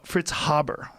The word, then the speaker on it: Fritz Haber: There's a guy named Fritz Haber, and Fritz Haber, that's how you say it.